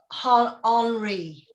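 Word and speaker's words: Henri: Oh, well, I thought because it's spelt like Henry, I thought maybe that's how you pronounced it, Adrian Henry.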